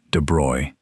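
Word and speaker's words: de Broglie: In the 1920s, a French physicist named Louis De Brogley, and his name is pronounced de Bruy, in case you were wondering, proposed something audacious.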